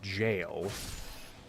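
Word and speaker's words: gaol: Now I know the word is pronounced jail. G-A-O-L.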